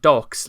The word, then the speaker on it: Dox: Devotees of Chris Chan Sonichu, Dox is chosen, pronounced Dox like Chris's favourite pastime.